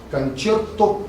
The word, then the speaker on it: концерто: Концерто гроссо, то есть большой концерт. Слово концерто, это итальянское слово, не немецкое. В России произносят неправильно, говорят концерт по-немецки.